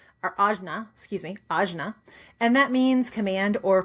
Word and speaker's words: Ajna: It is in Sanskrit pronounced Anja or Ajna, excuse me, Ajna.